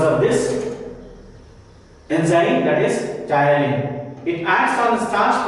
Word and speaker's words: ptyalin: Saliva contains an enzyme which is called ptyalin. So that you should remember. It's written here. Salivary gland secretes saliva which contains ptyalin. P is silent. Ptyalin.